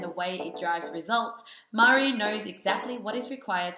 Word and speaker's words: Maree: Linh: Thanks so much for your patience and I made a mistake pronouncing your name, your name is spelt Maree, but it's Maree.